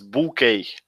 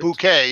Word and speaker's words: bouquet: So right pronunciation for this is bouquet. Right? Bouquet. Yeah, it's French.